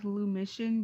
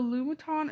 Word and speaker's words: Lumiton: I used to always pronounce this logo as Lumition because I thought there was a shun at the end, but I guess they fooled me. So Lumiton is a logo from